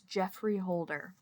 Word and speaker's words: Geoffrey Holder: And this one is called Black Gods, Green Islands by I was a little confused about the pronunciation base because of the spelling, but it's Geoffrey Holder.